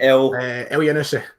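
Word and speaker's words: Elyounoussi: But anyway, how do you pronounce it again, Ryan? You always have to tell me. El Yanusi.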